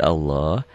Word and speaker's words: Allah: dan kertasnya spesial untuk lafaz Allah l-nya itu seperti ada w-nya saya tidak bisa menyalahkan orang